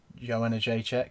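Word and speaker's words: Jędrzejczyk: fight of the night, which is obviously Joanna Jacek. See, I can pronounce it now, and that is how you pronounce it, isn't it? Joanna Jacek.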